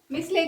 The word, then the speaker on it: micelle: एक डेफिनेशन हमारी छूट गई है मिसले की, मीसेल, मीसेल भी बोल सकते हो, MICELLE, मीसेल, मीसेल या मिसले, या मैंने इसका एक जगह प्रोनाउंसिएशन देखा था मूसेल, मूसेल, ठीक है।